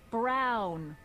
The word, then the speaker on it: Brown: That's Emmett Brown. Rhymes with clown, Rhymes with which clown.